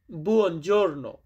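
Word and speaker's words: buongiorno: গুরুত্বপূর্ণ একটি শব্দ বুজোর্ণ মানে শুভ সকাল বা সুপ্রভাত এটাকে আমরা ইতালিতে বলি বুনজর্ণ।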